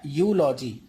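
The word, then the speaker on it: eulogy: अब इस वर्ड के लिए भी क्या है, यहाँ पे ई साइलेंट है, तो इसे यूलॉजी नहीं पढ़िएगा, इसे क्या पढ़ेंगे हम, ई को छोड़ दीजिए कि ई यहाँ पे लिखा भी हुआ है, इसे सिर्फ यहीं से पढ़ेंगे क्या, यूलॉजी।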